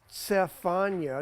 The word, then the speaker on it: Zephaniah: we are talking about Zephaniah Zephaniah Zephaniah pronounced Sephia in other words it's not even a z did you notice that